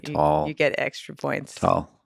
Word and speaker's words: Tal: Can you pronounce my name? Tal? Wow. most people say Tal. Tal. Or tall. You said tall. Who says tall?